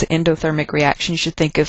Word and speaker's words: endothermic: Endothermic, hopefully something you already know. Endo, I know it's spelled E-N, but it sounds like the word you are very familiar with, in, like endothermic, means it takes energy into the system.